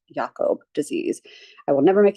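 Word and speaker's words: Jakob: and that is cjd the yakob is with a J um that's like a German yakob like Jacob but anyways so um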